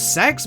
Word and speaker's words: CEX: They really seem to want to be pronounced as sex, but I can't think of anything more oxymoronic than a game shop called sex, so CEX it is.